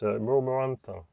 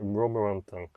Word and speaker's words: Romorantin: As you'll see in a future video, I struggle to pronounce this place name, where the Musimatra is. It's Romorantin. That's it, Romorantin.